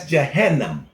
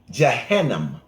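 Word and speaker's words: Jahannam: It sounds just like Ghana, but it's spelled with a J. That's Jannam. J A H A N A M. Jo Janam J A H A N A M. Johannam is the name for hell in the Holy Quran.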